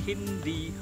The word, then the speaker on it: Hindhede: Yes, it's pronounced Hindhede. It's actually a Danish family name.